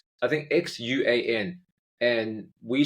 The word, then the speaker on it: Hsuan: Yeah, then you almost expect it to be a more flat sound than a rounded A type sound.